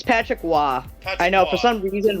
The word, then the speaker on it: Roy: against Winnipeg Jets at The Forum it's Patrick Wah I know for some reason Roy is percent uh pronounced yeah that's Patrick Wah yeah it's Patrick Wah it's one of the best goalies of all